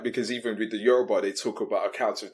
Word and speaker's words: Yoruba: So, for instance, I understand, how do you say that Yoruba people? Yeah, Yoruba.